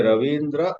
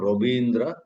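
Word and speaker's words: Rabindra: Whether you say Ravindra or Robindra, both are right.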